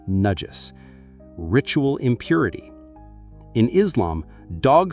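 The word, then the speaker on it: najis: And finally, nudges, pronounced nudges, ritual impurity.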